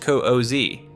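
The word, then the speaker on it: Kuzya: His followers address him exclusively as God koozie, pronounced cozi, and treat every word he speaks as absolute divine law.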